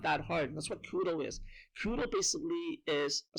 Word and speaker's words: Kudo: uh hungo right so in Japanese they they pronounce Kudo right and so the